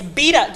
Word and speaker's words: Bieda: And it's Bieda. So did I say Senator Bieda? Not Bieda? You don't get to change a whole bunch of pronunciations. He's saying like in Italian it's Bieda, in Polish it's Bieda, and here it's Bieda.